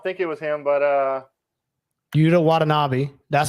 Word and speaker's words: Yuta Watanabe: I don't think it was him, but Yuta Watanabe. That's how you say his name. They must have spelled it out a little bit better on this one. Watanabe.